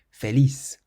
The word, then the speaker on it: feliz: The next word ends in a Z, so we stress the last syllable. Feliz.